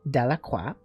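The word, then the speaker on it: Delacroix: jones and dickie delaqua the villagers pronounced this name de la cua eventually made a great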